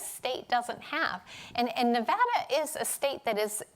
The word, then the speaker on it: Nevada: little state that could nevada and i say nevada because i'm from the west coast and that's how we pronounce nevada not nevada like everybody on the east coast uh and